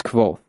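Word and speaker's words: Kvothe: My name is Koth, pronounced nearly the same as Quo.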